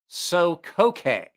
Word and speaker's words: Sokoke: I was looking at it like an English word and realized I absolutely have to pronounce that like a Japanese word.